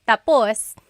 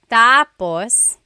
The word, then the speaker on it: tapos: So when it's tapos when the emphasis is at the end tapos that means finished. When the emphasis is on the first syllable tapos then it means next.